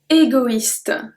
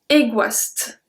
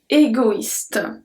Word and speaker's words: égoïste: If you remember well, when we have a tréma, that means that we have to pronounce that letter. If there were no tréma, I will say égoiste, égoiste, because OE is wa, égoiste.